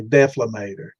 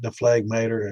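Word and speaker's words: dephlegmator: But I've heard a lot of people pronounce it without the G.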